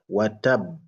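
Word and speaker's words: وتب: Il faut bien prononcer le le shad watab. Watab.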